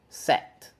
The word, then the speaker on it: set: Said, set. The difference is we have a different consonant at final.